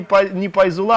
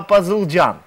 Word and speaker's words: Пазылджан: Да, Гуляра, единственное, хочу вам, ну, уже на протяжении, скажем, 3-5 звонков, меня зовут не Пайзула, а Пазылджан.